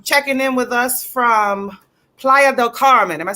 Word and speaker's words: Playa del Carmen: Checking in with us from Playa del Carmen.